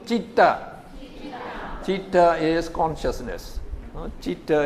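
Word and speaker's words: citta: So CIT you pronounce chit. No, chitta.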